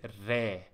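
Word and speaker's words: ر: practice improve your writing the next letter is re re re re is the name and it pronounced like hard in English re re you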